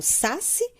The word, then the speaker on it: saci: Eu falo saci ou falo saci? Saci. Então, a sílaba tônica está no si.